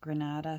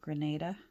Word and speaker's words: Grenada: from um the Grenadines some people pronounce it Granada some people Grenada um but I